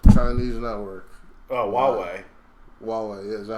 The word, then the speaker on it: Huawei: Hawaii. Chinese network. Oh, Huawei. Huawei, yeah. Is that how you pronounce That's that how you shit?